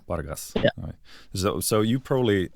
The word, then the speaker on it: Pargas: just say Paras or or how yeah yeah pargas pargas yeah so so you probably do you you